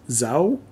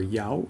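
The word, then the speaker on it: dấu: require a tone mark the word for tone in vietnamese is zhao in the north or yao in the south and the tone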